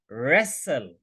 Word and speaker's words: wrestle: The right answer is of course the left side, wrestle, जो yellow base में है, wrestle. This is the right answer, wrestle.